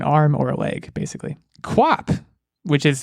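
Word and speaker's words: QWOP: body part an arm or a leg basically quap which is spelled q-w-o-p is a game on the computer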